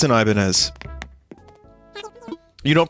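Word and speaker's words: Ibanez: It's a It's an Ibanz. You don't pronounce the Z or most of the other letters and you just pronounce it Ibanya.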